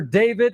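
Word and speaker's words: d4vd: Now he's been touring with stars like Siza, playing Coachella, and landing singles on Billboard's Hot 100, singer, and producer David, and it's spelled D4 VD.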